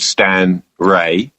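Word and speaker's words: Stan Rey: So because it's a rye sourdough starter, there's a famous professional skier local guy who lives in Worcester called Stan Ray. Stan Ray is spelled R-E-Y.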